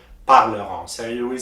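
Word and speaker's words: parleront: in o and t the t is also silent you say parleron so you will say nu paleron parleron i will read the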